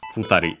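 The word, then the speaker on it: 二人: Hitori accented on the to, while this futari accented on the ri itself. Yeah, so futari.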